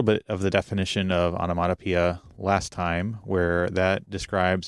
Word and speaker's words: onomatopoeia: to think about it because the pronunciation, at least to me personally, doesn't exactly look like the word, and even more so when you look at the official pronunciation guide. Okay. So I just have to sort of not think about the letters and just say onomatopoeia.